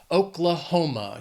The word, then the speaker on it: Oklahoma: This state has 4 syllables and the stress is on that third syllable. Oklahoma.